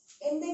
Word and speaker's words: Inde: हिंदुस्तान में इंडिया, हिंदुस्तान, इसका जो वर्ड है हिंदू, वो एक फ्रेंच वर्ड इंदे, इन एंड दे, इसे प्रोनाउंस कैसे करेंगे, इन दे, इंदे के नाम से बना है।